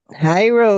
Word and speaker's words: Hiro: Okay, so Hiro, now people pronounce your name differently, Hiro. I think J in Spanish is pronounced like H, and I've been pronouncing your name Hiro. But is it better to be Cairo or Gyro, or what's correct? Hiro is closer to the truth.